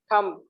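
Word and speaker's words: thumb: और देखिए HUTMB, इसको क्या पढ़ेगी? थम। थम। तो यहाँ पर भी बी जो है वो साइलेंट रहेगा। अब आ जाइए बी के बाद सी साइलेंट।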